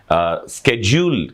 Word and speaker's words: schedule: दूं, वो है अनुसूची, जिसे इंग्लिश में स्केड्यूल कहा जाता है या स्केड्यूल कहा जाता है और आम प्रोनाउंसिएशन में से शेड्यूल बोल देते हैं।